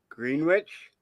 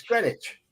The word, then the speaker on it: Greenwich: typed on the screen sir green witch there Greenwich good eff bear knows it everyone knows Greenwich meantime come on grwi it's grenwich it's grenwich there's a place in